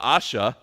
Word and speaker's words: Baasha: had another king and you can pronounce it differently if you want to but Asha is how I'll pronounce it he is a king